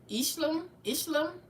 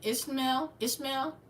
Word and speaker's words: Ishmael: Ishlam. I know that's Abraham's son, the Egyptian, the wild man of the desert. How you say his name? Ishmael.